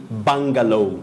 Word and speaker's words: bungalow: Just like you say bungalow, not bungalow.